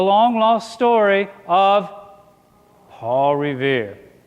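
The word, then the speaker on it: Revere: lost story of Paul Riv his name just happened to rhyme with the word here so I have a little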